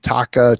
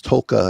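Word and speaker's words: Taake: Tolka, Taka, Taka. People say it, but it's Tolka, I believe, is the pronunciation of it. Okay. Invisible L.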